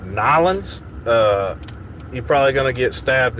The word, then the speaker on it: New Orleans: Is I've been told if I go down there and I don't call it Nylons, you're probably gonna get stabbed in a alleyway.